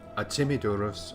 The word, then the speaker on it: Artemidorus: Or actually it should be Artemidorus, I think. Because in ancient Greece the second syllable was stressed.